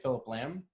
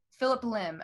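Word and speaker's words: Phillip Lim: Philip Lamb? Philip Lim.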